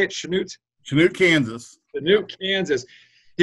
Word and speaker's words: Chanute: Is that how you say it, Chanute?